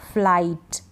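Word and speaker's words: flight: को नहीं पढ़ते हैं जैसे इसमें है फ्लाइट लाइट आई के बाद जी एच है नाइट राइट माइट site हाई टाइट इन सभी में आई के बाद जी एच है तो हम जीएच को नहीं पढ़ रहे हैं यहां पर इन सारी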